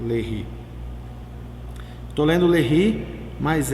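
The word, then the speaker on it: Léry: terra do Brasil 1 a lei tô lendo lehre mas é que se escreve LED tá aqui ó ó e o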